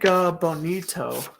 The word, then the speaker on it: Foligno: Nick Bonito. That's how you pronounce it.